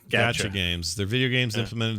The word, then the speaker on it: Gacha: It's spelled Gacha. Not like got you or gotcha. No, gotcha. Gacha games.